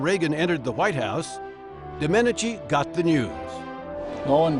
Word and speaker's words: Domenici: at uh because um the previous witness had mispronounced his name called him Senator Dominichi and I didn't and uh the first thing he said to me when he got a chance to ask a question was uh I like you. You can pronounce my name.